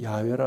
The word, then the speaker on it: 야훼: 여호와, 좀 더 정확한 발음으로는 야훼라 하시는 하나님의 이름에는 영원하시고 진실하시고 변함없으시고 신실하신 하나님이심을 나타내는 뜻이 담겨 있습니다.